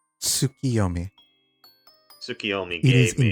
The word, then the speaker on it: Tsukiyomi: Tsukiyomi.